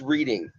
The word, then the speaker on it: Reading: It's Reading, like the railroad, I tell everybody, okay? Or reading a book.